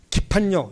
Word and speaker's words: 기판력: 리오 깊은 역이라 봅니다 기판력 기판력 이거 맞는 발음입니다 기판력이 신의한수 신동 사게